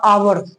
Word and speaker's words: hour: But pronunciation, जैसे आवर हम लिख दिए HOUR, आवर, आवर घंटा, तो किसका यूज करोगे? एन आवर। एच है, कॉन्सोनेंट है, फिर भी एन का यूज हो रहा है क्योंकि प्रोनाउंसिएशन वॉवेल आ रहा है।